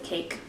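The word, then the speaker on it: Kaike: ka i ke but it is pronounced cake it was founded by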